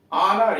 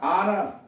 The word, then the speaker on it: honour: ऑनर, HONOUR, ऑनर, H silent है, सम्मान, HOUR, आवर, घंटा, यह साइलेंट है।